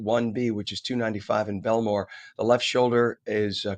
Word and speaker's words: Bellmawr: So, this is again a crash on 76 in Bellmawr. Uh not Bellmawr, but Bell Mawr, M A W R.